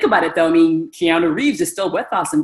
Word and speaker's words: Keanu Reeves: know who he is at the time we didn't know how to pronounce his name but it was basically we used to call him Kino Reeves right if you think